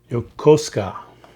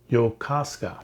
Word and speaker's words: Yokosuka: please don't hold it against me but um yokosuka yokosuka yokosuka ship naval shipyard we do have some here